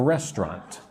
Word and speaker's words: restaurant: A chef works in a restaurant. Look at that word restaurant. It looks like it should be rest. No, no, no. Make it two syllables.